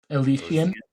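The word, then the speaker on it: Elyasian: She wrote this book and I know I forget how to pronounce it. E L Y A S I A N. Alician. Alician. That's it.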